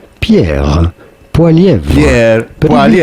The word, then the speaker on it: Pierre Poilievre: French or in French Canadian, his name would be said as Pierre Poilievre. Pierre Poilievre.